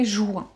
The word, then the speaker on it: juin: It is because where I'm from, we say it a weird way. We say juin. Like if there were a O-U, you know, ou, juin.